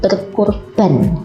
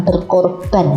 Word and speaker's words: berkurban: Kalau kurban ini biasa diucapkan ketika Idul Adha, anak-anak ingat ya. Jadi berkurban, bukan berkorban kalau itu ya, kurban.